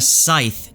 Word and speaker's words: Sithe: But I want to branch off from here and connect the Sithe to the Adem. Now, first off, I just want to point out that Rothfuss says the correct pronunciation for Sithe is actually Sith.